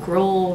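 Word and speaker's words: Grohl: He mumbles something under his breath something like Dave Gro rhymes with Dave mole and that was it.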